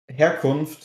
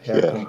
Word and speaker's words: Herkunft: Herkunft, yeah, almost. Herkunft? Yeah. Yeah, Herkunft. Yeah, it sounds pretty good. Okay, well, I'm used to not pronouncing H's, but I forgot German does pronounce their H.